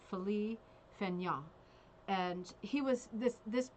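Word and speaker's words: Félix Fénéon: paul siniak and it is of it's actually pronounced philly fenya and he was this this person who's being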